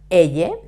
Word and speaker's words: y: e alone means and and the pronunciation is e e because it's alone remember the name of